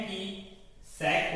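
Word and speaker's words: cosec: CSC ही होती है, लेकिन CSC थोड़ा प्रोनाउंसिएशन में अच्छा नहीं लग रहा, कॉसेक है ना, सेक कॉसेक मिलता जुलता लग रहा है। तो 12th स्टैंडर्ड तक तो हम कॉसेक ही पढ़ते हैं।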